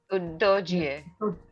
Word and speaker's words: Udogie: Udogi's surname before his parents made it easier to pronounce in Italian was Udogi. There. Okay. Udogie. There's an EH also.